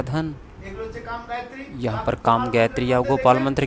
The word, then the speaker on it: योग: हमने यहाँ योग बोलते हैं, विदेशी बोलते हैं योगा।